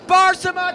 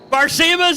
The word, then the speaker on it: Barsema: Red light for Cook sends Barsama to the final round. Barsema's in the final round? Yes, sir. You've been saying his name wrong all day. It's Barsema. Hey, Gardner. Gardner. It's Barsema.